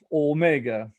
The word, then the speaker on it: Omega: pronunciar las vocales cortas, porque Omicron es O, o algo así como O en inglés, y Omega es O, es nuestro O, Omega, O, Omicron, O, pero es vocal corta.